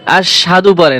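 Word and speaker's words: أَشْهَدُ: আশহাদু আশহাদু এখানে দেখেন হামজাশিন জবর আশ হা জবর হা কি হয়? তাইলে আশহাল পেশ আশহাদু আশহাদু সাদু হবে না আশহাদু আজকে থেকে এই ভুলটা আপনি সড়ে নিবেন। আশহাদু লা ইলাহা আশহাদু আল্লা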